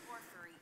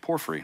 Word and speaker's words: porphyry: Porphyry. Oh, thank you. Porphyry.